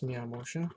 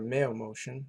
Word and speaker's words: MeoMotion: let's save that and that's me I motion or mail motion if you want to pronounce it that way so go over to